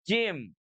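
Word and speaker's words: ج: Berikutnya, bagaimana pengucapan huruf jim? Huruf jim, ja, itu diucapkan dari tengah lidah kita yang diangkat ke arah langit-langit. Nah, ini dia ya.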